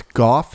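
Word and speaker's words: Gough: pronounce my last name it's goth it's like cough but with a g instead of a c like jared golf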